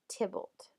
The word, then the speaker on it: Tybalt: So you pronounce that Tybalt.